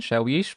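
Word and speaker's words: شاويش: And let's just break it down. Shawish, because there's an alif here, and we know that it's a long sh sound. The wow here has a yeah after it, so it's a long e sound. So it's a shawish.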